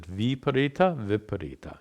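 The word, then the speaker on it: viparīta: By the way, I've mispronounced it. Viparita is the correct pronunciation.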